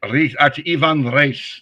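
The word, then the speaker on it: Ivan Reis: Um, Ivan Reyes Revan Re is actually how you say it.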